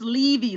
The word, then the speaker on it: Levy: name wrong i mean some people say levy it's levy long e yeah no i don't